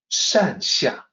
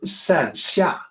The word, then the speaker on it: 善下: So the pinyin has an X in there, which you just have to remember is the SH sound. So why do they not just spell it as SH? Well, it's because the pinyin system is man-made and therefore imperfect. And so it can potentially cause a lot of confusion. So just remember 善下, 2 characters.